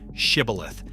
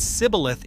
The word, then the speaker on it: shibboleth: the fleeing enemy by forcing every man to say one word, shibboleth. Men from the losing tribe could not pronounce that sh sound. They said sibboleth instead, and by that single